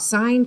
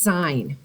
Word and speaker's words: sine: that this is pronounced sine now we've used just the first three letters s i n so that's not sin but it is pronounced sine with a long i this is going to